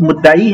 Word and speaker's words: مدعی: ہاں مدعی مدعا علیہ، مدعی تلفظ مدعی ہے پھر وہ مدعا علیہ ہے.